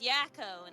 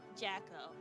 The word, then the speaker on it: Yakko: Oh, it was Yakko, not Yeah. Jacko. Okay.